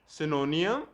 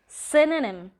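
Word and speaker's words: synonym: चलो इनको भी बताते हैं, कुछ ऐसे वर्ड्स जिनकी प्रोनाउंसिएशन में शायद आप भी मिस्टेक्स करते होंगे। सिनोनियम, सिनोनिम, सिनोनिम, एंटोनियम, एंटोनिम, एंटोनिम, ऑफ्टन, ऑफन, ऑफन, data,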